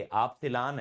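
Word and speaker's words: epsilon: एप्सिलॉल नहीं है ये एप्सिलॉन है।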